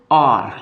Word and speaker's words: hour: कैसे, मान लो मैंने लिखा ये HOUR, जब हम इसको पढ़ते हैं तो इसको हम क्या पढ़ते हैं और लिखते हैं, कैसे क्या लिखते हैं, आर, मतलब एच इसमें साइलेंट हो जाता है।